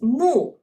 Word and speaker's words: 木: means wood and trees so it pronounce as moo okay and it illustrate